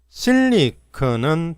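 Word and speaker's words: silicon: 세미컨덕터 반도체 즈 공장들 실리콘은 발음이 실리콘 앞에 강세가 오고 실리콘입니다 실리 실리콘 규소 파운더리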